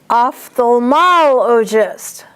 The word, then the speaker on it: ophthalmologist: Ophthalmologist. Ophthalmoscope. Ophthalmoscopy. So that first one, ophthalmologist, the accent is on MOL.